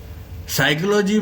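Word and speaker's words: psychology: समझोगे तोही काम चलेगा साइकोलॉजी में अभी मैंने बोला फिजियोलॉजी क्यों बोला भैया जो चीज दिखाई जाती है वो है नहीं साइकोलॉजी में जो पी है पी शुरू का पी वर्ड वो साइलेंट है ना कई वर्ड ऐसे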